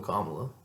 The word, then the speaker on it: Kamala: not first of all Kamala let alone kamla how you actually say her name it's it's it's just